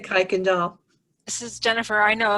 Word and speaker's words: Kuykendall: It is going to be Cuyendel. Oh, that's great. Thank you. You're welcome. Congratulations. Woohoo. And how do you say your last name? Kuykendall.